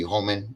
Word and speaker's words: Homan: pronouncing his name right Homan credit um for finally or Harmon if I'm saying it right he finally we have somebody homman that's how you say it we have somebody here